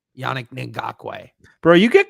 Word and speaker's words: Ngakoue: I'm going to send the Yeah, so apparently I've been getting called out for saying that it's Ngakoue is how you say it, not Ngakoue. Yannick Ngakoue.